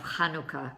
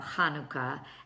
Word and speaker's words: Hanukkah: Well, that's the Het sound. It's rolled in the kind of in the back of your throat. So if you can think about clearing your throat, then you'll pronounce the first letter of Hanukkah correctly. So let's see here.